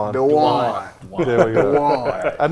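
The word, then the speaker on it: Duane: Dwan Dwan. There we go. I knew how to spell it, but I got too much southern.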